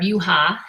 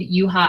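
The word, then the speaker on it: Juha: So we're going to run in honor of Yuha. And Yuha, by the way, a lot of people don't know this. We named Yuha after a Finnish hockey player. His name is spelled J-U-H-A.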